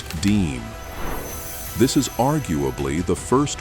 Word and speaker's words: disme: It is a 1792 half-dime, pronounced Disme.